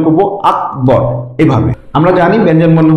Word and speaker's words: আকবর: এখানে এই ক এর নিচে হসন্ত, মানে ক এর সাথে অযুক্ত নেই, সুতরাং এটাকে আমরা উচ্চারণ করব আকবর এভাবে।